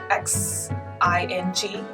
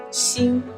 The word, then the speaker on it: Xing: Yeah, like X-I-N-G. Xin means star.